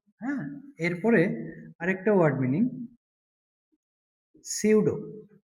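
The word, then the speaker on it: pseudo: হ্যাঁ, এরপরে আরেকটা ওয়ার্ড মিনিং সিউডো। শব্দটা পি দিয়ে শুরু হলেও এর উচ্চারণটা হয় সিউডো। সিউডো।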